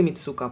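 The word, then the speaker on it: Mitsouko: и флаконов от герлен мицуко или мицуко правильно по-японски but my так о без ударения кстати насчет и по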